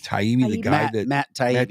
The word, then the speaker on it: Taibbi: Taibbi. Taibbi, the guy Matt Taibbi.